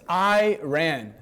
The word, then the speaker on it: Iran: It's Iran. Okay, that's how you pronounce it.